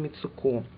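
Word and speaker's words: Mitsouko: форме флаконов от Герлен мицуку правильно по японски будет без ударений кстати насчет Японии тоже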